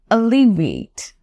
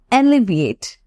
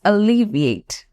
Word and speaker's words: alleviate: have to pronounce this word with me this pronunciation is tricky it's alleviate alleviate okay it's not alleviate it's alleviate now this means to make something less Savior